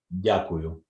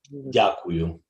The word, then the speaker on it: Дякую: Дякую. Say again. Дякую. Дякую. Yes? Дякую. Дякую. Take care, guys. Слава Україні! Героям слава. Все. Пока. Щасливо. Пока. Дякую вам.